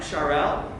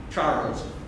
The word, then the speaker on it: Charles: French scientist Jacques Charel. Here in the United States, we pronounce it Charles.